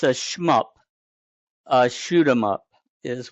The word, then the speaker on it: SHMUP: So, it's it's a schmup. A shoot them up is what it is. The I think the acronym is properly pronounced. Schmup.